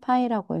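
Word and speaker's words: π: 파이라고 읽어요.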